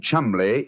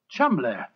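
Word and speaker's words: Cholmondeley: Being an American, he had no reason to know that the name Chumley is in no way pronounced the way it is spelt. But I never thought of that. Chumley.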